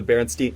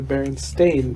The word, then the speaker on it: Berenstain: There is a whole generation of people who remember it as EIN.